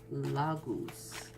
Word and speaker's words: Laguz: guys can split up l AG use these how you spell it okay so you pronounce it la goose all right so let's